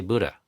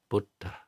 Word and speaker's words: Buddha: in our country that even I have a hard time pronouncing Buddha properly. I say Buddha, which is how an American would say it. But if you want to say it the poly way, it's Buddha.